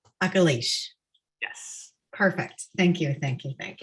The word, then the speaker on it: Akilesh: your name correctly uh very close so it's um uh oculish akalish yes perfect thank you